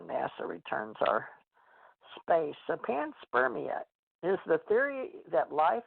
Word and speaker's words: panspermia: That's called panspermia. Panspermia? Yeah. Or panspermia, Pam. I'll have to look that one up. Yeah, I pronounce it wrong.